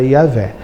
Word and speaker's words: Iavé: entendendo eles muito porque muito provavelmente a a pronúncia mais original mais antiga seria iavé mas se retrocedermos um